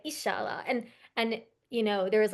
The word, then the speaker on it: inshallah: Um, and I think like Arabs pronounce it differently. I think they say like Insha'Allah, but Persians say Inshallah.